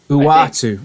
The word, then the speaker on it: Uatu: Because I'll pronounce it wrong and look like an idiot. Uatu.